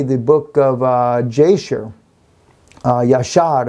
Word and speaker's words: Jasher: book of Jasher yeah shot is actually how you pronounce this and I know there's